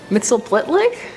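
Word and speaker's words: Mxyzptlk: mitell Plick mitel pitlick mitell pitlick now I spent some time practicing how to say this and I ended up going with the Superman animated series Gilbert Godfrey pronunciation so this little imp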